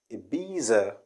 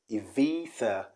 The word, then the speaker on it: Ibiza: in spain of course people do say ibiza ibiza ibiza the repronunciation is evita evita the b changes to and z changes to the okay so what